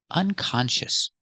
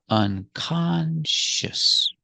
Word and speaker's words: unconscious: the opposite is unconscious unconscious three syllables unconscious put the stress on the second syllable con unconscious she's unconscious and she